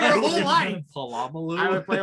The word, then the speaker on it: Polamalu: Polamalu.